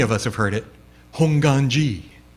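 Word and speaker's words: Hongwanji: this term Hong and you'll notice the W is silent right A lot of people see this and they're like hongan G but the W is silent honganji um and if you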